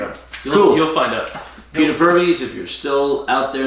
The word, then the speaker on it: Purves: How do you pronounce his last name? Purves. Purves.